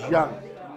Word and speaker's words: Zhang: So we pronounce the Z English way, Zhang. It's Zhang. Yeah. It's a ZH. Yeah. ZH is like a J.